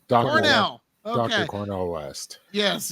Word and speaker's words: Cornel: But yeah, so Cornel, now is it Cornel West or Colonel? How does he say his name? Cornel West. Cornel.